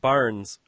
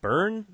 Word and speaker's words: Byrne: What's David Barnes? Do you remember him? He was the lead singer of the top. You mean David Burns?